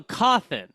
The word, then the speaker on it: Cawthon: It's C-A-W. Oh, CAWTH. T-H-O-N. Oh, so Cothin.